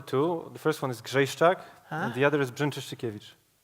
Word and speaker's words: Grzejszczak: Just spell it. So Grzejszczak. Grzejszczak.